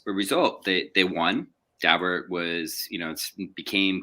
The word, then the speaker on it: Daubert: States Supreme Court called Daubert. And it looks like it should be Dow bear, but I'm told by people who know the Dauberts that that's the way they pronounce their name.